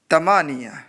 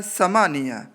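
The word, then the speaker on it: ثمانية: और 8 को बोलते हैं अरबी में तमानिया, वो लिखा होता है समानिया, लेकिन क्या बोलते हैं, बार बार ये बता रहा हूँ, इसका ख्याल रखिएगा। ये बोलते हैं सा को ता, तमानिया, इंग्लिश में 8 बोलते हैं, 8, और उर्दू में 8।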